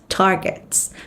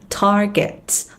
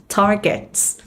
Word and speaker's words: targets: cụm là meet sales targets. Không đọc là target mà nó sẽ là targets, âm a dài, targets, targets, targets.